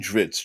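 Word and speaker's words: Drizzt: don't know at all trits the word pronouncing dritz dritz the word drizzle cut off before the l and replace with the hard t deweyrden since there is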